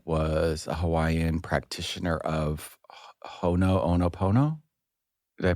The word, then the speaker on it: Ho'oponopono: he met that was a Hawaiian practitioner of Ho'oponopono. Did I pronounce it correctly? Ho'oponopono.